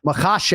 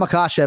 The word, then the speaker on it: Makhachev: as kenflo right but ultimately we're trying to hit makashe haven't hit that second syllable so uh Islam akashav is the lightweight champion